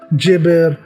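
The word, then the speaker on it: Geber: उन एरियाज़ में, वो जेबर के नाम से, जेबर और कुछ प्रोनाउंसिएशन में गेबर भी कहा जाता है, मतलब डिफरेंट प्रोनाउंस करते हैं लोग।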